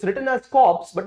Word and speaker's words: corps: It's written as corps, but it's pronounced as corps.